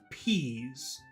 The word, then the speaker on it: peas: to pronounce number one you have to make sure you're pushing out a lot of air peas can you hear that